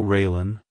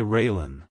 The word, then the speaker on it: Raelynn: sound at the end keep the emphasis on the first syllable like Hello railen Goodbye railen if you found the